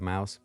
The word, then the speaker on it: Mous: I said Mous instead of Mouse. They kindly let me know it is pronounced like the small rodent.